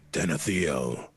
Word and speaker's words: Tenethio: uh the skull of ten theo tenethio there you go that's how you say it well it depends on